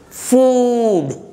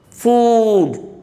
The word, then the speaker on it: food: If you take fatty, see double T is there, but it must be pronounced as fatty, fatty. Spicy and oily food. Please note the sound, food.